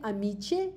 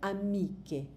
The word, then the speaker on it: amiche: Parce que normalement, on ne va pas dire amici, on va dire amiche.